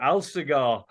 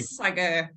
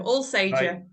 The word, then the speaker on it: Alsager: Alsager. No, Right, Alsager. I'll save you. I'll not all, remember that for future. not all cigars.